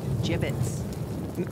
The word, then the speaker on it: gibbet: gibbets left over jibbit what it's pronounced jibbit are you sure yeah